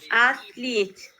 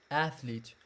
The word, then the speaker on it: athlete: biography of Jesse Owens this word is Ashley two syllables athlete athlete uh yes this one